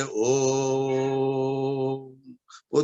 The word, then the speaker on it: ॐ: ध्वनि अब हम कहते ओम धनिए लेकिन ध्यान के लिए जो वह तीन की संख्या मक्का ओम है यह ईश्वर का निशान है वहां पर हमें ॐ का उच्चारण तीन मात्रा की करना है इसको धर्म तो दुष्कर्म